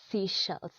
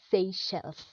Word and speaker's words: Seychelles: really really tricky a lot of people say seizures actually the correct pronunciation of this name if say shells say shell so next time don't say officials say Seychelles and lastly but not least we have a